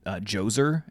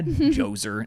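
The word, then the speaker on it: Djoser: with this guy named joser and he builds like the step pyramids Jer yeah joer spelled with a DJ o s e r wow and yeah like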